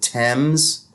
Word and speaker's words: Thames: It's Thames, but they pronounce it Thames.